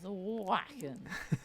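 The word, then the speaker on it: Wacken: wrong with the pronunciation I believe it's whacking or is it w yes it is whacking whacking um yeah this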